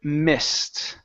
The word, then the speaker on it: mist: one is the word Mist uh where did you go right here instead of me Mist okay use a short I sound okay the word is